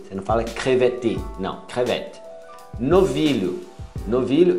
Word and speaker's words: crevette: Camarão, é crevette.